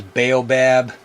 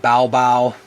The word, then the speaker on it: baobab: these over in the u.s you know we pronounce these as baobab b-a-o-b-a-b in malagasy they might call it baobao so you'll hear either one but it's the